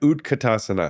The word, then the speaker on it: utkatasana: Um so like you said chair pose, they may say chair and then utkatasana, right? Utkatasana. Yeah, let's do that. Did I say it right? Utkatasana.